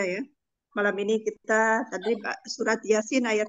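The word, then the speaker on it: يس: huruf-huruf jadi baca ringan kalau di Yasin itu bacanya ringan Yasin disitu dia Sin itu ada huruf-huruf mukhafa'ah yaitu huruf-huruf yang dipakai pada awal kalimat dibacanya secara ejaan tidak ada idgham tidak ada bacaan Idgham jadi ya dan harokat dan disin di Yasin di situ 6 harokat baca secara ejaan huruf-hurufnya dan dia itu ada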